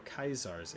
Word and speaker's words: Caesar: This is going to be starring Legate Lanius, Caesar's Ace, or Kaisar's Ace if you want to pronounce it in the Latin form.